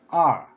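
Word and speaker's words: 二: In Chinese pronunciation, with pinyin and tone number on the vowel, R, it's tone number 4.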